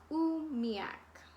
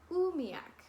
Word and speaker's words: umiak: how to pronounce it umiak is pronounced ooh me AK oomiak very cool so it's